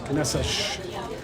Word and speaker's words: Caneças: But if you look at the spelling of the word, it's got the line down the bottom of the C. And in Portuguese, that means you pronounce that as an S, Caneças.